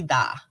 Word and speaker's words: vida: in spanish vida um it's pronounced v like the victory and then d-a-h-v vida so the v and